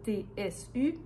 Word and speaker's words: tu: de « tu », surtout que le « tu » est prononcé « t-s-u ».